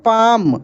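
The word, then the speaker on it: palm: पी ए एल एम इसको पढ़ेंगे पाम अब यहां पर देखिए दोस्तों एल साइलेंट है क्या है एल साइलेंट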